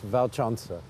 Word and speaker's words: Walcząca: is pronounced like a V in English, Walcząca. It is, Polska Walcząca.